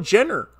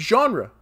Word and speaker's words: genre: never heard somebody dude I've heard people call it Jenner I don't know why it's genre Broly still nerfed until